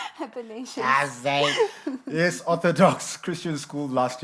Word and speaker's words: Athanasius: Athanasius. Athanasius.